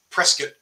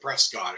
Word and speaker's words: Prescott: I used to live Prescott as the locals call it they they would laugh at me for calling it press God it's spelled p-r-e-s-c-o-t-t you're finished they can't